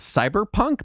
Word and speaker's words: CBR_PNK: The only way I know to pronounce it is Cyberpunk, but it's spelled. It's CBR_PNK. And it is a cyberpunk role-playing game using the Blades in the Dark rule set. That is intentionally unpronounceable.